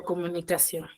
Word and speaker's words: comunicación: Ahora, ¿dónde tiene la mayor fuerza de voz? Mejor dicho, ¿dónde está la sílaba tónica? En on. Solamente en on. ¿En qué Sion. sílaba, mejor dicho? En la Sion. sion. Ahora, yo tildo esta palabra, ¿por qué? Porque está la mayor fuerza de voz en la sílaba sion.